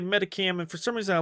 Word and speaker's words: Medicham: Like, I used to pronounce Medicam. Or Medicham, but then I heard somebody say Medicam, and for some reason I like that better, so I've been saying Medicam.